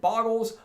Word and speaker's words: Bogle: So it is called Bogles, but the namesake creature is actually pronounced Bogle.